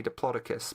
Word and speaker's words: Diplodocus: __ ] you like officially it's supposed to be Diplodocus because that's how the discoverer or pronounced it but bucket you